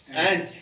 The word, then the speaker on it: ant: और आज का वर्ड क्या है, एंट, ANT, एंट। एक होता है आंट, याद रखना, इसमें फर्क है बोलना, प्रोनाउंसिएशन में, स्पेलिंग भी अलग अलग है, ठीक है।